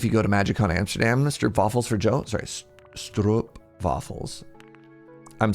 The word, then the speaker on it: Stroopwafel: I also need to pronounce the W like a V. Stroopwafel.